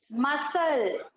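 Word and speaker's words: muscle: मसल। क्या लिखा है? मसल। मसल्स होते हैं ना बॉडी के, वो। तो यहाँ पर भी देखो सी जो है वो साइलेंट है, यहाँ पर भी सी नहीं बोल।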